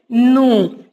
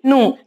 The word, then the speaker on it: gnu: Here the word is nu. Here G is silent. Okay. It's not nu. We have to leave this G. We should not spell this G and we should say only nu.